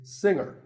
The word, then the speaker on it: singer: word is pronounced subtle another popular word with a silent letter is singer the g is silent now we say finger we say the g younger again with the g but singer no g and what would you